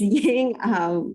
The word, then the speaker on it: Yang: So if you're looking for me afterwards, my last name is not Vang, it's Yang. It's spelled with a Y in case anyone tries to connect with me afterwards.